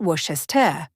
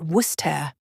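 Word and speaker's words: Worcester: pronunciation is actually Lester and then there's wer it's not West but wer these are just a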